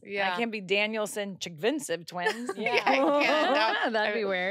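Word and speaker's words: Chigvintsev: Can you pronounce it? Yeah, Chigvinsev. Okay. I always kind of have to put that. Yeah, you put a lot of head movement. Chigvinsev.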